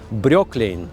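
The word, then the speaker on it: Breukelen: Бруклин – это был городишко в Голландии, Брёклин, немножко другое произношение.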